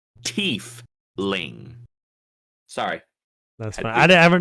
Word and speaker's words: Tiefling: It says Tiefling in the document. Does it? TEEF-LING. So you heard it here on Favorite Terrain, everybody. It is officially Tiefling.